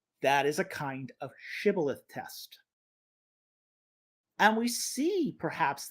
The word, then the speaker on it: Shibboleth: Quote, if he said no, they would say to him, Say now, Shibboleth. But he said Sibboleth, for he could not pronounce it correctly.